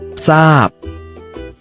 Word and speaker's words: ทราบ: พุทรา อ่าน ว่า พุทรา ทราบ ทราบ อ่าน ว่า ทราบ ชวน กิจกรรม และ กิจกรรม